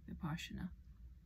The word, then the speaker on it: Vipassana: It's spelled V-I-P-A-N. V-I-P-S-A-N-A. Sometimes it's a double S. S-A-N-A. Vipassana.